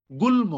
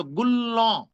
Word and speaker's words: গুল্ম: গুল্ম। গুল্ম এখানে ল এর সাথে ম যুক্ত আছে, তাহলে গ্রামার অনুযায়ী উচ্চারণ হওয়ার কথা ছিল গুল্ল। ল দুইবার উচ্চারণ হবে, শেষেরটা চন্দ্রবিন্দু দিয়ে উচ্চারণ হবে।